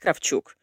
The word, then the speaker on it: Kravchuk: your last name well it should be pronounced calf chook that's the proper way when you say it in Russian but I have to